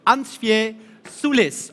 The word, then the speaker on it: Ansviesulis: so I was already thinking about how to pronounce this uncia Sulis of cream finance legend airman that's correct hi